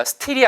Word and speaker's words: still: still이 아니고 still. 아직까지도란 뜻이죠. 아직도란 뜻이에요. still. 이거 길게 발음하시면 안 돼요.